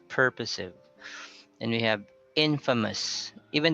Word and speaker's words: purposive: And we have, what's our subject? Purposive. Okay, purposive communication. So it's not purposive, but it's purposive.